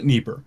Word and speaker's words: Dnieper: Dnieper, but we pronounce it Dnieper.